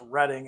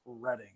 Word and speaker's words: Reading: see reading flat cars and yes it is pronounced reading as a East Coast man I know how to pronounce reading it's not the other word all right um